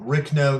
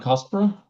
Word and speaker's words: Rhynchospora: Ricno. There's a couple other genus that Ricno, can you finish that? Rhynchospora?